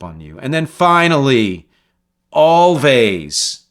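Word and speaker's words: Alvvays: you and then finally always which I think it's how it's pronounced a-l-v-a-y-s their album Blue Rev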